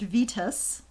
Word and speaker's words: Vitus: have here i know rob does say that it's pronounced vitus yeah and another recommendation